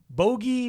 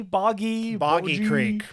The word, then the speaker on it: Boggy Creek: Pierce, director of The Town: The Dreaded Sundown and the Legend of I always say it wrong, Bogey. Boggy Boggy Creek.